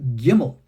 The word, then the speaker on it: Gimel: So, for example, we have the letter Gimel, which is a G sound. In modern Hebrew, if you go take a modern Hebrew course, no one's going to tell you how to pronounce a Gimel, the G sound, in the second way. That second way is the J, like jacket, or like in Hebrew, check.